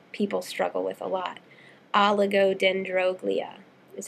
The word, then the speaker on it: oligodendroglia: pronunciation words that people struggle with a lot oligodendroglia is how you pronounce it aligo means few or scanty um